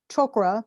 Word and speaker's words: chakra: to remind you uh chakra or choker that's how they say it in sanskrit excuse me uh means